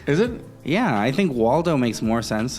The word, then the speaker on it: Waldo: Yeah, I think Waldo makes more sense. Like Eduardo, Waldo, Waldo. El Waldo. El Valdo. El Valdo, yeah. Some people, they pronounce that as a V.